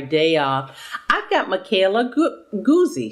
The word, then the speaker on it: Guzzi: I've got Michaela Guzzi. She said it rhymes with fuzzy, so it's Goosey.